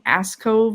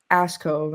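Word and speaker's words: Askov: I'm like, this says you're from Ascove, Minnesota. And she's like, or I said Ascov, and she's like, Ascove. And I was like, oh, okay, I totally just butchered the pronunciation.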